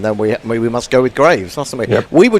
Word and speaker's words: Greaves: So Diana's given us the grammatical version, but Betty Holford says it's pronounced Graves here in the Caribbean.